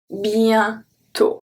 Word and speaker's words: bientôt: un comédien, un lien, bientôt, bientôt. So you see that I don't say bientôt, I say bien, ien. So it's the rolling I. Bientôt, bientôt.